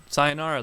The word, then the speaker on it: sayonara: All right, so sayonara. That's how you say it. Yeah.